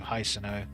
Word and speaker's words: Hisano: snow just guile hey no that's how you pronounce his name hisano it's a pleasure to